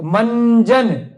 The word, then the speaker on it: मंजन: group में आया है, तो इसमें भी अगर लगाएंगे तो मंजन, मन उच्चारण तो न का आएगा, लेकिन जब लिखेंगे तो